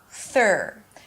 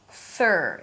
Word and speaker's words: third: Third, to make this syllable, bring the tongue out for the TH. It's a soft TH sound. Release air. And then pull the tongue in for the R. Third, directly.